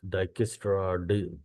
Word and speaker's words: Dijkstra: डाइकेस्ट्रा, जे silent है।